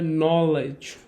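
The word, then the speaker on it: knowledge: তো উদাহরণ হচ্ছে নলেজ, নলেজ হচ্ছে জ্ঞান, এবং আরেকটা উদাহরণ হচ্ছে নাও, ওকে, আর একটা হচ্ছে ক্যানাইট, ওকে, নি।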